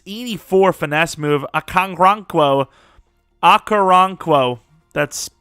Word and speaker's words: Okoronkwo: Okoronkwo, that's how you say it, 100%.